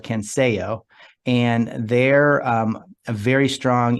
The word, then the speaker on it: Censeo: Censeo. Almost like with a K, like with a K.